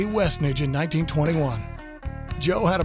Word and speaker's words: Westnedge: It's one word. It's pronounced Westnedge, not Westnedge.